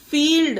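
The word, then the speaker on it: field: भी समझ लेते हैं फील्ड अब देखिए फ्रेंड डी से पहले एल है पर यहां पर फील्ड पढ़ा गया ला आधा ला इसमें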